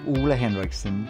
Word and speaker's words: Ole Henriksen: my name gets pronounced in the most crazy ways but my name is actually a henriksson and I'm the founder